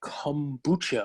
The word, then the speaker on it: kombucha: i looked it up i was saying it wrong it's with a k it's like kombucha or something like that and i was calling the gooch which from my childhood